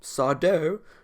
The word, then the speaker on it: Sardo: Sardo, well, Sardo, no Mr. accent on the dough.